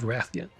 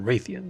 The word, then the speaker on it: Rathian: silver Rathalos or gold Ratheon or raytheon depending on how you like to pronounce that so silver Rathalos and